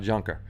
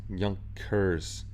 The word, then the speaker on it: Junkers: say it in german i know there's a different way to say it in german but it's not junker junkers young kers something like that but i flipped the